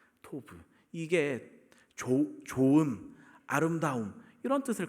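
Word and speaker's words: טוב: 생긴 거 저게이 글자인데 발음을 한번 토부예요 토브 토브 이게 좋은 아름다움 이런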